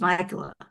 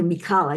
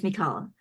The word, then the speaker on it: Mikala: And she said, "My name is Michaela." And it was really Mikala. Again, I mispronounced it. Finally, I got it right, but it's Mikala.